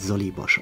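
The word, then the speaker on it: Żoliborz: Nee, das wird Solibosch ausgesprochen.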